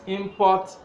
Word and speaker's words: import: increased in recent time we're using this word as a noun and so we spread the first syllable if we are talking of the action Nigeria imports electronic gadgets from China we are using this as well and stress is on the second syllable so that is exactly